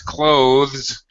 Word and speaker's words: clothes: most English speakers pronounce clothes uh with Z CLA yes with a z sound but um furthermore it's it sounds exactly like the verb like to close the door to close the window I'm wearing clothes it